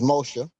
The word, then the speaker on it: Moshe: You know, the name, first of all, Moses ain't even how you pronounce Moshe.